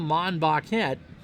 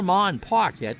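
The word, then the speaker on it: Monbouquette: Quechan Betty and Bill Mon box head or Mon parkette depending on how you want to pronounce it is on the mound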